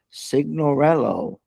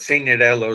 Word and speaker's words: Signorello: I have Signorello. How are you? Did I said that right? First off. Sure, you said it right. That's the American version of it. Signorello is the Italian one, but I messed it up.